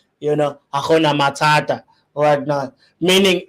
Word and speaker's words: Hakuna Matata: So I'm trying to pronounce it in the best way possible, but I think it's Akuna Matata. I think that's how a Tswana person would pronounce it. You know, Akuna Matata, whatnot.